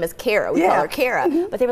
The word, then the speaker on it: Kara: I know your character DJ Kara is how you pronounce it DJ Kara she kinda